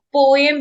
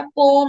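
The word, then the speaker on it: poem: आप देखते हैं कि गूगल ने भी ये निकाल दिया है कि आप टेक्स्ट लिखते हैं, आप कई लोग पोएम बोलते हैं, बट पोएम नहीं होता, पोम होता है, राइट।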